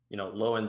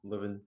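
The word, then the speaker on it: Löwen: I think, Lowen being out for a while, Levin, I'll pronounce it correctly this time.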